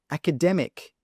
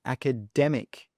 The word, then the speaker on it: academic: Next one, academic. Academic. Where is the stress here? Well, it's on the dem, academic, academic.